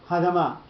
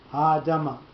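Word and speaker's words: הָאֲדָמָה: The first one is to tell you that it's not Ha'adama. You don't lose the entire first syllable with no pronunciation to it, with no emphasis on it. You're going to split the pronunciation 50-50.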